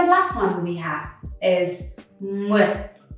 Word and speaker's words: Nguyệt: So with this one, again, you see NG. With NG, try to open your mouth first. And you see a lot of letters here, right? You pronounce all of them. So it's U, I, E, with. The dot makes it super short. That means that you barely can hear the T.